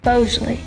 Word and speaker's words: Boisjoli: I'm looking for the boys of Johnny it's pronounced Bosley what tarnation you're no cowboy I'm not